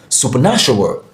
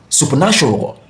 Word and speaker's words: supernatural: So we have the stress syllable in natural. So you pronounce this supernatural, supernatural, supernatural.